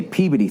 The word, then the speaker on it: Peabody: uh I want to say peid theater cuz where I'm from that's how you say it PE the Peabody theater it's like when you when you're in New York it's Carnegie Hall and when you're in Pittsburgh it's carnegi all right when you're in